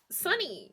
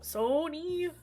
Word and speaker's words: Sonny: I mean, yeah, it's spelled with an O, but you say it like Sunny. You say it like sun. They're often the same, Marty. And you Right? should know. Not Sony.